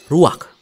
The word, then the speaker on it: ruach: Kata dalam bahasa Ibraninya adalah ruach. Ruach? Ya, benar. Tenggorokan kita harus benar-benar bersih di akhir pengucapan.